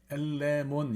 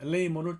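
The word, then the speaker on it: ἐλεήμων: 엘레몬 이렇게 읽으시는 분도 있는데 이걸 좀 길게 애를 좀 길게 발음하셔서 그냥 그 유럽 사람들이나 미국 사람들 헬라어를 공부하는 사람들 엘레이몬 이렇게 읽어요.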